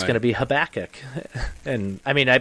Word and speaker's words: Habakkuk: said it amos so it's amos and then habakkuk that that's the correct pronunciation yep okay that's how i would have